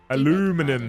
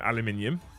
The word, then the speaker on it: aluminium: Aluminum says Rimney. No, aluminium.